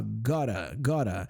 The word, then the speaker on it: gotta: E a pronúncia é bem essa mesmo, parece que eu tô falando um RA, né, roladinho assim, ó, gotta, you gotta see this movie.